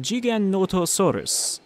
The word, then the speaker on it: Giganotosaurus: You know, he's a South American paleontologist. So he says it kind of like, Giganotosaurus.